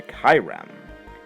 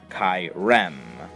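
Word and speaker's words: Kyurem: You know, Zekrom, Reshiram, Kyrem. Or Kirem. I've heard people pronounce Kirem's name Kyrem, Kirem, Kirem. I've heard all different pronunciations, but I've just always called it Kyrem.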